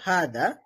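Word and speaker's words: هٰذا: আমাদের উচ্চারণ করতে হবে হাদা। লেখা আছে হাদা, কিন্তু আমাদের উচ্চারণ করতে হবে হাদা, মানে হায়ের মধ্যে এক আলিফ টান দিতে হবে, হাদা বলতে হবে।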